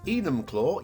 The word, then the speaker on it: Enumclaw: thank you for your support today's map is enumclaw yes i've checked the pronunciation on this one a one-to-one by a